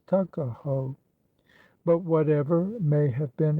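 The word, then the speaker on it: Tuckahoe: not belong to him Eastern Shore men usually pronounce the word Tuk as tuck Tu AO therefore is in Maryland parlament tuckaho but whatever may have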